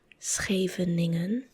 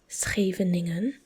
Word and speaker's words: Scheveningen: So the next one, and I've heard like foreigners or like non-Dutch speaking people make the craziest pronunciations of this one, to the point where they almost said a word that you cannot say. But it sounded pretty close. So this is called Scheveningen. Scheveningen.